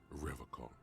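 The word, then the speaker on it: Revachol: But someone has to stay strong for Revacol. Revacol. Vitsi mikä tapa lausua. He pronounces Revacol with a hard K, unlike other people.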